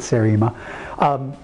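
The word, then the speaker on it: seriema: is a bird it's it's name is spelled i s-e-s-e-r-i-e-m-a it's serema this is a bird when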